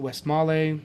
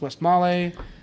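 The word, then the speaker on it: Westmalle: Maul was the first some pronounce it West Mallay. So again feel free to blow me up and tell me the correct pronunciation. I always say West Mall, but I think it's West Mallay.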